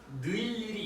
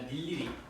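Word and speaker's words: 늴리리: 자음을 첫소리를 가지고 있는 음절에 의는 이로 발음한다. 그래서 닐리리 이것도 느리리리 이게 아니라 닐리리 무니 뛰어쓰기 뜨어쓰기가 아니잖아 그지?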